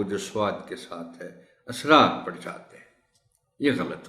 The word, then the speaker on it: اسرار: سین کے ساتھ ہے، مگر اس کا تلفظ ہے اسرار۔ وہ سر کی جمع ہے جس کے معنی ہے بھید۔ لوگ اس اسرار کو